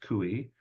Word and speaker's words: CUI: information or cui and sometimes you'll hear it pronounced kui I just refuse to do it uh I'm going to go with the letters uh but when a